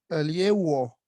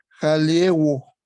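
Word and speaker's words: ἁλιεύω: Al, aliewo. Ya, solo acá hay que pronunciar como J porque tiene espíritu rudo, Ay, ¿ve? Acá. el espíritu se me pasa. Es jaliewo.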